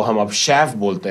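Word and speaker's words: chef: की बात करता तो शेफ की स्पेलिंग है सी एच ई एफ शेफ ये एक फ्रेंच वर्ड है शेफ ठीक है डोंट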